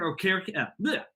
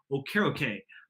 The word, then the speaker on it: Okereke: It's Okereke. Excuse me, I actually got my pronunciation wrong of it. It's Okereke.